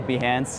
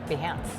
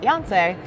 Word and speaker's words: Behance: One of the first questions we got was, how do you pronounce Behance? I know it's a controversial subject because many people think it's pronounced Beyonce, and they get disappointed when Behance is not Beyonce's homepage.